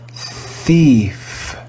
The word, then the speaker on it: thief: you should remember that the digraph ie in english is read with the sound e e let's read this word together thief thief thief did you